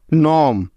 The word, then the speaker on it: gnome: এন এর আগে জি থাকলে ওই জিটার উচ্চারণ হয় না, অর্থাৎ সাইলেন্ট থাকে। যেমন sign, SIGN, sign. Design, DESIGN, design. Foreign, FOREIGN, foreign. নম, GNOME, নম।